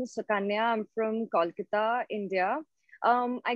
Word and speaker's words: Sukanya: taking it home yeah you win hands down sakanya did i pronounce that right yeah yeah right hi my name is sukanya i'm from kolkata india i grew up in